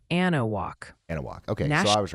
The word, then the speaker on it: Anahuac: That's pronounced Anahuac.